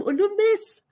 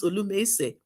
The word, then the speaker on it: Olumese: And then the doctors told me, "Congratulations, Madame Olumes." That's how they pronounced my name, because they couldn't simply pronounce Olumese.